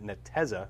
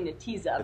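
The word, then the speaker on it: Netezza: switch she was the vp of marketing at nateza am i pronouncing that right now or then the teaser it's actually natiza but he's everybody oh yeah regardless you were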